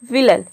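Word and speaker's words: villain: विलन में भी आप देख रहे हैं कि AI के बाद एन आ रहा है और यहाँ पे AI को हम अ प्रोनाउंस कर रहे हैं।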